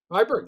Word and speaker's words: Viborg: Viborg, yeah.